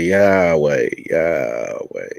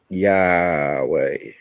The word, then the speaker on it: Yahweh: Yahweh. It's like yawning, or it's like ha ha ha.